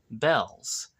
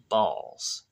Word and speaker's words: Baals: is your mayor and I pronounce my name balls and so by this